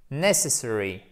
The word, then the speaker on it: necessary: que ici, la syllabe va être porteuse de l'accent tonique. Necessary.